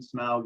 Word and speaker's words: Smaug: just go with uh smaug yes and the proper token pronunciation smog is right number five you took